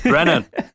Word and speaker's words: Brennan: It's Brennan. Brennan, yeah. Well, I haven't encountered many Brennans in my life. I've encountered a lot more Brendans. Yeah, same, mate.